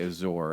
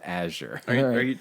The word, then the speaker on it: Azure: so funny the number of people who say Azure and like it's a sure the word is pronounced a sure are you talking about the actual word like